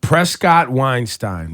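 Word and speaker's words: Prescod-Weinstein: what is your last name how do you pronounce it Prescott Weinstein Prescott Weinstein which is you're from Brooklyn yes or your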